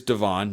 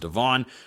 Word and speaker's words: Devon: of Devon Prior, and it is Devon, not Devin. It's spelled Dee Vo, pronounced Devon.